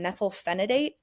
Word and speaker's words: methylphenidate: So I got off of that, and then I got on methylphenidate, which I think I'm pronouncing that correctly.